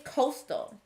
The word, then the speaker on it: coastal: The word is avoid. This word begins with A, but it sounds like a.